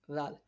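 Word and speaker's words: ذال: Zal is pronounced from the tip of tongue, touching the inner edge of two front teeth.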